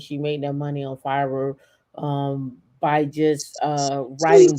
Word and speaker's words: Fiverr: 387 thousand dollars um on fiber on Fiverr f-i-v-e-e-r F oh that's how you pronounce it that's what I was trying to say oh okay yeah um and she made that money on Fiverr yeah 378 000.